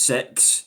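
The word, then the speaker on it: CeX: Genuinely, let me look at CX um which uh it's pronounced sex.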